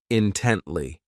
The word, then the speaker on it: intently: This adverb has 3 syllables, and the stress is on that second syllable, intently.